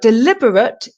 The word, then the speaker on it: deliberate: deliberate deliberate deliberate so deliberate is to do something intentionally on purpose and the stress is on the second syllable lib deliberate Del deliberate